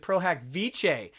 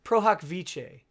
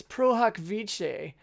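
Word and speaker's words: pro hac vice: admitted pro hack vice i've been pronouncing this pro hack vice uh that's that's my texan coming out pro hack vas uh it's pro hack pro hoc vice sorry sorry uh there to those who are disturbed by my lack of latin pronunciation it's pro hoc vice uh vichy vice i don't even know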